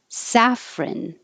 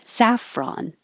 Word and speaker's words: saffron: alternative burka saffron or saffron so the only difference is it can be ron or rin at the end saffron saffron these in total